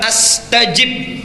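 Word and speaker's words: أستجب: dengan kata astajim ya cara membacanya 121 ujibu dua astajib panjang mana chip atau STIP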